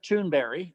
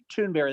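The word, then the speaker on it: Thunberg: that's heard is Greta tunberry that's tunberry that's that's how they pronounce it in Sweden but it's spelled tunberg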